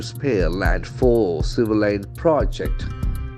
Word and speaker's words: project: civil line project project since it is a noun the accent falls on the first syllable is veryable observation project project it's a plan work project if a verb the accent will be the second syllable project project that's very